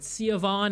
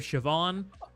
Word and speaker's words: Siobhan: Yeah, believe me, I have heard so many butchered pronunciations of Irish names like, uh, I've heard Sioon instead of Siobhan.